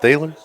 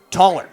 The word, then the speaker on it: Toller: Is it Thaler? Toller. Toller, okay. Toller, yep.